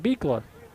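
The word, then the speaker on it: Buechler: c h l r but it's pronounced beer so good to get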